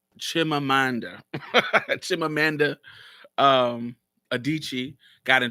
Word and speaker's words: Chimamanda: Chimamanda. Chimamanda um Adichie got in trouble for. Absolutely, she did. And if I have a video called "What I Think About Chimamanda," and I actually agree with Chimamanda.